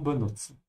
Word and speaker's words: benutzen: Ja, remember the T-Sound hier, zu benutzen. Zu benutzen.